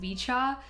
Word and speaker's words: VCHA: I was going to pronounce it VCHA, but I heard someone else pronounce it Vichchaw, so I guess I'll just go with Vichchaw.